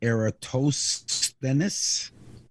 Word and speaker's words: Eratosthenes: His name is spelled Eratosthenes, which is pronounced Eratosthenes.